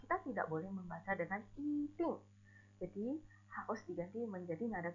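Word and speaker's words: 一定: Namun apabila ditempatkan di depan kata bernada keempat, diucapkan sebagai nada kedua. Jika nada di aksara di belakangnya adalah nada keempat, misalkan kita lihat contohnya I ting, artinya pasti. Ting, nada keempat. Jadi I diganti menjadi nada 2.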